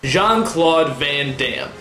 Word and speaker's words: Jean-Claude Van Damme: Four syllables. Jean-Claude Van Damme.